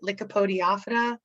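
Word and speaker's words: Lycopodiophyta: it no problem so here i show you how to pronounce it right lickopodiophyta is the way uh myself and others call these planets the lycopods sometimes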